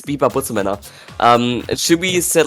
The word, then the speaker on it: Butzemänner: It's Butzemänner.